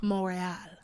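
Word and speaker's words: Montréal: Uh, we went to Montreal. Morale.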